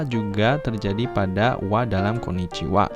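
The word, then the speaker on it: こんにちは: Selamat siang yang diucapkan sebagai wa, namun dieja sebagai ha. Betul sekali. Ini saya sebenarnya sempat menjelaskan ini di pelajaran sebelumnya ya. Seperti partikel wa dalam sebelum subjek itu dibacanya walaupun hiragananya itu ha tapi dibacanya wa.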